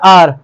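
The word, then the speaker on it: hour: हाँ, घंटे का प्रोनाउंसिएशन होता है आर।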